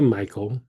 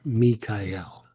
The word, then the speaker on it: Michael: So you can say Michael, but probably a more appropriate way to say it is Mikael, right? Then to break it up into syllables. So there would be me, Kai, and L, right?